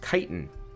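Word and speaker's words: chitin: worth it kit oh chitt is pronounced kitan good to know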